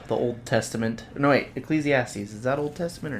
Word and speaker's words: Ecclesiastes: Spell that? Ecclesiastics. Ecclesiastics. Or it'd be Ecclesiastes.